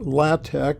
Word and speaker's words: LaTeX: computer unless you've installed latte which is spelled looks like it's spelled latex um you can knit